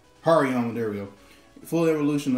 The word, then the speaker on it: Hariyama: Pronounce the name. Got Thet from the black and white legendary. Got Makuhita and Hamorama. Hariyama, there we go.